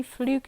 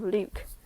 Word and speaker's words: Luke: She got my name wrong too, kept calling me Fluke instead of Luke.